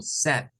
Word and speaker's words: said: El verbo say, decir, es el pasado, pero se dice como said. So, he, Z. Entonces él dijo, yeah, said, recordando que este diptongo se pronuncia como una E.